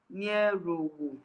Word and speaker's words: Nierowo: He said my name is pronounced Nierowo. Okay, Nierowo.